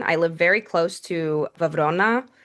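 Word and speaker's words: Βραυρώνα: I live very close to Vona, which in English is Browron. It's like a really butchered I don't know how we got there. Uh, but it's Vona in Greek. Browron in English.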